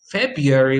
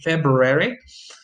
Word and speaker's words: February: and in that way you end up with the pronunciation of february without the r of course you can also say february actually my favorite is